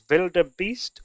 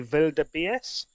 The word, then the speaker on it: wildebeest: should say as well that pronunciation may vary from region to region you may know that as vilda Beast or maybe vilda BS uh but here in England land we call it wilderbeast so thank you very